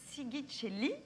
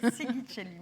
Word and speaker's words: Sighicelli: Agnès Sigicelli, je le Bonjour. prononce bien? Non, ça marche. Ça marche. Pas besoin de la Bravo pour la prononciation. Sigicelli, merci.